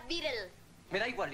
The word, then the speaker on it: Beatle: Se pronuncia Beatle.